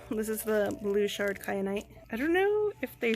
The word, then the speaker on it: kyanite: Correct, it's kyanite. It could be also probably pronounced kyanite, but I'm pretty sure it's kyanite.